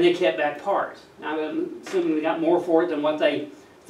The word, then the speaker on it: Ai: Remember that right after the battle of Jericho, they went against a small city called, so the pronunciation is spelled Ai, but the pronunciation would be I. Just as I.